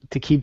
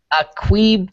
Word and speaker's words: Aqib: Taqib Talib. Aqib Talib.